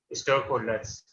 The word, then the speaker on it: stakeholders: Is it pa, ta, ka? No, sir. No. Then it will be za. Stakeholders. So it is a definite rule, sir.